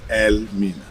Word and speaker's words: Elmina: Yeah, so our people at that time couldn't pronounce it properly, and it was corrupted into today's word, Elmina.